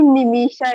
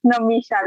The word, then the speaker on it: Namisha: She called me Nimisha. It's Namisha. Like it's like if Namisha pronounces I and I have double E. You know what? Okay, so sorry. Now that guys, usko Namisha hi bulana. Don't call her Nimisha.